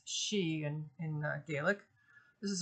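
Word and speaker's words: Sidhe: um rather fearsome but the word is pronounced she though I kind of like pronouncing it as Sith it's not correct but I like it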